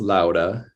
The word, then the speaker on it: Låda: tradition but yeah so Lada is actually technically pronounced Lauda but I don't expect